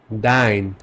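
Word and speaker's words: dein: কিছু কম্বিনেশন শিখি যেমন এ আর ই মিলে এটার উচ্চারণ হবে আই এর মত এক্সাম্পল দেখাই জাইন ডাইন মাইন জাইন মিন্স টুবি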